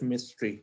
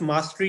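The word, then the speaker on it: mastery: इसे कहते हैं सेल्फ मिस्ट्री. ठीक है, सेल्फ मास्टरी कह लें. अब मैं मिस्ट्री का वर्ड इसलिए प्रोनाउंसिएशन की वजह से आ रहा है. इट इज नॉट MISTERY, इट्स मास्टरी.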